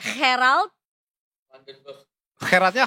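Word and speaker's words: Gerald Vanenburg: Gun Flagenberg apa kan lu orang Belanda sastra Belanda cara sebutinnya Gerard Flarenberg ya Gerald Vanenberg pelan-pelan herald Vanenbergnya Kh iya kan-nya dibaca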